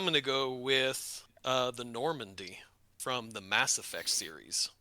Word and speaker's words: Normandy: Normandy, as in like the location in Normandy France.